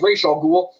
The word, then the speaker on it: Ra's al Ghul: I'm going to say Ra's al Ghul because that's how you should pronounce it. I'm sorry, Christopher Nolan, but it's Ra's al Ghul.